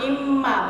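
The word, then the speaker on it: إمّا: Di dalam Al-Qur'an itu ada tulisan misalnya in ma. Imma bacanya.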